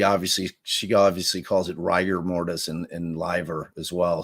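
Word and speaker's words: rigor mortis: everybody who's been saying rigger mortise their whole lives just so you know you're wrong it's ryer ryer mortis wrong but it's always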